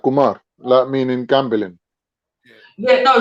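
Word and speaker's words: خمر: to say it k-h yeah we call that we pronounce that kumar that meaning gambling yeah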